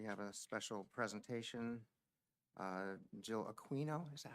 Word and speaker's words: Aquino: Jill Aquino, is that how you pronounce it? Yeah. Aquino is here to give a talk on the New Jersey Climate Superfund Act resolution.